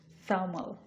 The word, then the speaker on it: thermal: দেখেন আমি কিন্তু র প্রোনাউন্স করতেছি না, কারণ ই হচ্ছে আমাদের ভাওয়াল অ্যালফাবেট, এরপরে র সাউন্ড আসছে এবং ভাওয়াল সাউন্ডও সে thermal, এই জন্য কিন্তু আমি এটা আর প্রোনাউন্স করতেছি না, এটা হচ্ছে thermal, thermal।